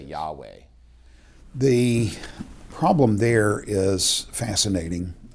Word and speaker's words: Yahweh: Yahweh is the best we can do to pronounce that word, but they didn't want